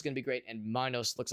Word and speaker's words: Minos: Probably Minotaur is pronounced with like a kind of softer I, so it's probably Minos.